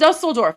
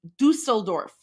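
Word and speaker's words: Düsseldorf: This is Dusteldorf. This is Dustelorf from today. My heart shall foreign. Okay, I stand corrected. It's pronounced Dusseldorf.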